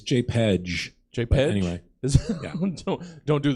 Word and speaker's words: JPEG: How do you pronounce JPG? I'm curious. JPEG? Is that anybody else? Is that right? It's JPEG.